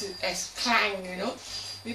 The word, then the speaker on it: Klang: But in Malaysia, we don't pronounce it as klang, you know.